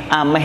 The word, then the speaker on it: ameh: Ameh itu ammati. Ameh. Itu bacanya ameh. Orang Hadramaut itu suka di geset-geset itulah.